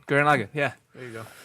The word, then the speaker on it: Gurren Lagann: Grand Logan. Gurren Lagann.